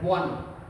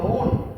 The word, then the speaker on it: one: pronouncing these words like own, isn't it? We own the match, but is it, okay, this is not own, but we pronounce them one, okay, like as if we are saying O-N-E, one.